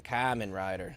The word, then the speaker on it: Kamen Rider: Kamen Rider.